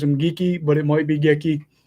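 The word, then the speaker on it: Geekie: last name so it's morgan gekki or geeky i think you pronounce it geeky is always how i pronounced it he was a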